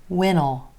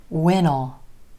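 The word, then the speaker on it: when'll: don't know what'll happen when will becomes wittle wittle we don't we leave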